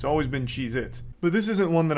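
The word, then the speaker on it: Cheez-It: Cheeits, and I'm still saying it wrong. Cheeits never existed. They have always been Cheeit, not plural.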